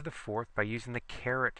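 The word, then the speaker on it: caret: fourth by using the carrot symbol c a r e t pronounced just like a carrot so raise it to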